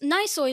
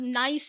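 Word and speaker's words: gneiss: of is but then you realize that noise nicer means relating to nice which is a rock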